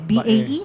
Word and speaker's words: Bay: Oh, it's Bay. No? Bae. B-A-E? B-A-Y. Yeah, they pronounce it Bae.